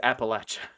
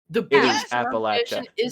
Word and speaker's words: Appalachia: happening right now appalachia it is appalachia i looked it up on google what do you want the box appalachian british pronunciation i guess i'm british and you i guess i'm british too no it is appalachia you two have bastardized